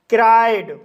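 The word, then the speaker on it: cried: आई पड़ा जाता है जैसे क्राइड क्राइड शब्द के बीच में आई ई आया है इसलिए आई का लॉन्ग साउंड आई होगा इसलिए इसे क्राइट पढ़ा जाता है और क्राइड मींस होता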